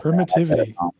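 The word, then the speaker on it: permittivity: pertivity pertivity or per I say permitivity pertivity per oh really permitivity e dude I've been saying per W I've been saying it wrong permitivity okay so that's Epsilon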